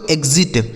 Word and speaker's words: exit: नेक्स्ट word देखिए दोस्तों EXIT, इसे पढ़ा जाता है दोस्तों एग्जिट। EXIT, इसे पढ़ा जाएगा एग्जिट।